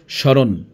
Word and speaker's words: স্মরণ: যেমন স্বাগত স্মরণ এখানে ব এবং ম এর কোন উচ্চারণ হয়নি।